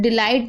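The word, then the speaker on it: delight: अगर किसी शब्द के अंत में GH या GHT हो तो GH साइलेंट रहता है, यानी आखिरी में अगर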